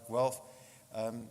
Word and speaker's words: Guelph: I can't pronounce the place. Guelph. There we go. I have to get it right. Guelph.